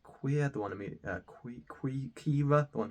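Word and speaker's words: Qi'ra: But you think this is an average standalone film, I think it's pronounced Queer, the one Kira, the one Emilia Clarke plays.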